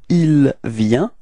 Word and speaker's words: il vient: So the masculine form, it's il vient. Repeat. Il vient. Okay. Final T is not pronounced, so you get the same form as for je and tu.